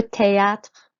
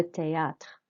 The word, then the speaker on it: théâtre: Okay, so your voice goes up and makes an A sound on the E accent, and then the A with the accent on the top makes an R sound.